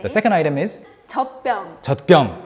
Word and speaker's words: 젖병: 젖병, you write it as 젖병, but you say it as 젖병. 젖병. 젖병. 젖병 is the natural pronunciation.